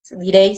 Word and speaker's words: Deray: Y tengo mi Instagram, en el que ahorita me hizo favor Guillermo de seguirme también, muchas gracias, que es lemon-ángel Deray, se escribe, Direy se pronuncia.